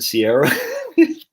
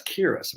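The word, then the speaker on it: Ciara: shiban um and do you know c-i-a-r-a isn't sierra coley's got a friend akira and i said but i saw her name said uh sierra's because that's kira what irish dude that's who so i gotta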